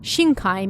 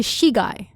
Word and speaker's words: Shigai: Its official name is Shinkai Woods, with Shinkai meaning the opening of uncultivated land. It's believed that over time the pronunciation changed from Shinkai to Shigai, which means corpse.